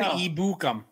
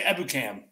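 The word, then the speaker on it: Ebukam: not educam is it the nfl's been saying it wrong all these years yeah samson ibukum yeah because they say ebu cam yeah because that sounds very anglicized anyway yeah all right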